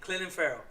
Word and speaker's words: Clelin Ferrell: Yes, I said it right. Clelin. You know how he used to say Cleveland? That's his name. Clelin Ferrell.